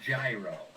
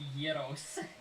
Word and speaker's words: gyros: It's pronounced gyro. Look at this flowing hair. It's like a sandwich, but the bread is like a little pocket. It's gyros.